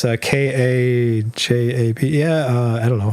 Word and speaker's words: Kajabi: Oh, Kajabi. It's a k a j a b i Yeah, uh I don't know. How do you spell it, Brian? k a j a b i Kajabi Kajabi It's like Patreon.